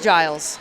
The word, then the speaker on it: Giles: It is Giles. It is Giles? Yes, sir. I swear it said a hard G in there.